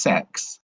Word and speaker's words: CeX: Apparently, it's pronounced sex.